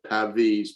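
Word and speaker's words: Pavese: one from an italian poet whose name my pronunciation will probably be wrong is caesar pavis p-a-v-e-s-e and he said and this i love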